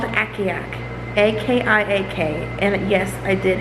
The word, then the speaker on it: Akiak: It's about a dog sled team, and it's called Akiak, A-K-I-A-K. And yes, I did have to Google the pronunciation of the name because I had no